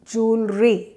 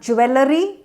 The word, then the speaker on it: jewelry: has plenty of jewelry singular jewelry not jewellery jewelry a jewel not a